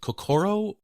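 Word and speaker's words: 心: I hope I pronounce this right. Is it kokoro?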